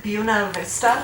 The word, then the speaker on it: Buena Vista: There's a county not far from where I live in Iowa called Buena Vista, but the people pronounce it Buena Vista.